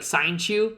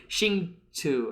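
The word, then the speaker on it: Hsinchu: So I'm just gonna call it like Sainchu. That's not true though. It's like Xingchu or whatever.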